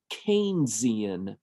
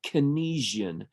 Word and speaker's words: Keynesian: is a little bit more important this is pronounced keian now you're going to hear people say kesian that's actually Incorrect and the reason that I